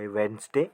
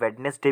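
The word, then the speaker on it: Wednesday: ठीक है, वेंसडे, WEDNESDY, वेंसडे। इसे आप वेडनेसडे भी कह सकते हो और वेंसडे भी कह सकते हो।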